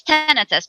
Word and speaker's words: tinnitus: So it's the correct one if you want to actually dive into it, is tinnitus.